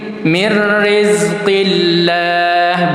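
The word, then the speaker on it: مِن رِّزْقِ اللَّهِ: Jadi, min kemudian disambut huruf setelahnya ro mirri mirrizqillah bukan mirri tapi mirri. Cara baca idgham bila gunah ingat tanpa didengung sesuai dengan namanya.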